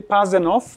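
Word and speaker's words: Pasenow: İlki Pazenov, aşağı yukarı yazıldığı gibi okunuyor.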